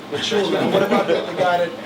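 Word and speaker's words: Mchunu: How do you pronounce the guy Eddie Chambers is fighting? I didn't say it earlier. Machunu.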